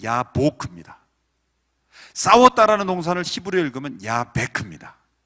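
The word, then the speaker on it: יבק: 야복강을 히브리어로 읽으면 야보크입니다.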